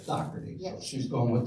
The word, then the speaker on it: Dougherty: All right, it's Dougherty, not Doherty, because we had this discussion.